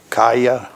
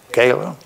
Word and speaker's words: Kayla: Is it Kaya? Kayla.